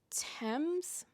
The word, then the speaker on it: Thames: Her love interest, Miller, is played by Mason Tames. I don't know if that's actually how he pronounces it, but that is how you say the name of the river in London, so I will stick with that for the time being.